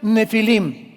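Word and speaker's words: Nephilim: Esa palabra, si tienes tu Biblia dice gigantes, ponle nepilim con ph. Nepilim se pronuncia nefilim y significa caídos.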